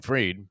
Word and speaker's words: Fried: by Philly oh wow fried as in freed uh there's a different pronunciation and uh and sure